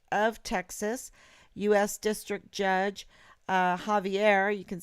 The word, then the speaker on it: Javier: But we might say Xavier. But I know you pronounce it Javier Rodriguez, and you can find him in San Antonio.